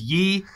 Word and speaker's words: Ye: And I believe I am pronouncing that right, because there is some argument online whether it's Ye, like Yeezus, or Ye, like Kanye. From what I've read, I would assume it's Ye.